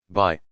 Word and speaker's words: bi: Although these circular pendants look like they could be worn as jewelry, they are much too bulky and heavy for such a purpose. Instead, they were likely used in ritual worship of the sky. Bi, pronounced B, discs were made of